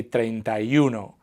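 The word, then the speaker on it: treinta y uno: say it very similarly we kind of pronounce it as a single word so we say truno which sounds very similar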